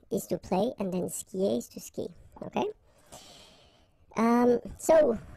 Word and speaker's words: skie: And then, je skie. Okay, exactly the same thing. Je skie. Okay, you get this I, and after that you get the vowel but then you don't pronounce it.